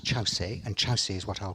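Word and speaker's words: Kyaukse: Jeff see it's it's spelt cukes a but pronounced Chau say and chassis is what I'll call it all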